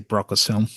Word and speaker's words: Brocas Helm: Oh, uh, yeah, I usually say Brocas Helm.